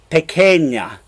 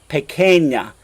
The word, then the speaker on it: pequeña: now means small and notice how that qu right there doesn't say qua like an English like quick or quietly or quietude or quintessential that qu says cook in Spanish so yo tengo Familia pequeña pequeña and you're noticing that this end right there says an an Y sound pequeña pequeña and then